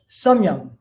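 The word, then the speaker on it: samyama: in sanskrit known as samyang s-a-m long a and y-a-m-a last day is pretty much silent and that means regulated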